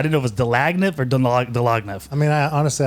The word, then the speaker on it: Dlagnev: I didn't know if it was Dlagnev or Dlagnev. I mean, honestly, I don't either. I mean, it was. I think we say Dlag, but I mean, it was translated phonetically.